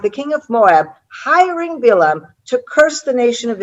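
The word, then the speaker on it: בלעם: Okay, in Hebrew we say Bilam.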